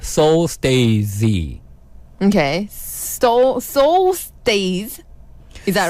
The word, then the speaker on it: Stay Z: Soul Stay Z, like stage. Stay Z. Oh. So in Korea, it's just stage. It pronounced as like stage. stage. Yes, stage. But it's spelled different. It's like stay and With- Z.